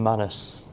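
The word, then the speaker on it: Manus: I've heard it pronounced minus, but sounds I don't like that.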